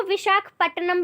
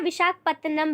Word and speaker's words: विशाखापत्तनम: पहला ऑप्शन है पणजी, मुंबई, काडला या फिर विशाखापत्तनम। इसको विशाखापट्टनम भी बोलते हैं, विशाखापत्तनम भी बोला जाता है, क्योंकि प्रोनाउंसिएशन में थोड़ी